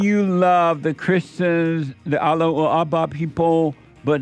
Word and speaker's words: Allahu Akbar: And do you love the Allahu Akbar people? You gotta say it the right way. What do you mean? You've always pronounced it wrong.